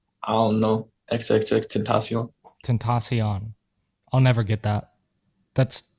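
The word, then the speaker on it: Tentación: what i'm reading it's temptation yeah he says he says it in like songs that's the only reason i notice it what's up alexandra that's how it's supposed to be pronounced tentacion i don't know he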